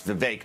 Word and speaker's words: Vivek: It rhymes with toothache. It's Vivek, not Vivek.